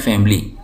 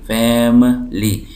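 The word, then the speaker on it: family: में कहते हैं फ उर्दू में हमारे यहां इसको बोलते हैं फैमिली फैमली फैमली लेकिन इंग्लिश में सही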